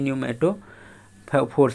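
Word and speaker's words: pneumatophores: अगली प्रकार की जो रूट है उसको रेस्पायरेटरी रूट बोलते हैं या पी न्यूमेटो फोर्स बोलते हैं। पी यहाँ पर साइलेंट होता है, इसको न्यूमेटो फोर्स बोलते हैं।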